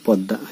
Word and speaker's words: পদ্মা: পদ্মা একটা শব্দ, আমরা পদ্মা লিখছি, পদ্মা বলছি পদ্মা, কিন্তু আমরা লিখছি পদয় ম। এখানে ময়ের উচ্চারণ উজ্জ হয়ে এখানে দ বৃত্ত উচ্চারিত হচ্ছে।